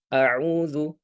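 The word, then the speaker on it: أَعُوذُ: Ya, maka di istiazah ini perlu kita perhatikan awalnya dimulai dengan hamzah. Auzu. Auzu. Hamzah. Kemudian ain. Auzubillahiminasyaitanirrajim. Ya. Adapun kesalahan yang sering terjadi adalah menghilangkan ainnya dengan hamzah. Ya, itu di antara yang sering terjadi auzu. Maka perlu kita perhatikan betul-betul perbedaan antara antara huruf hamzah dengan huruf ain ya.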